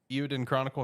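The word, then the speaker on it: Eiyuden Chronicle: Eowyn Chronicle, is that how you pronounce it?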